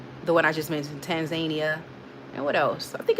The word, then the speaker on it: Tanzania: I said Tarzania. Tanzania. I was close.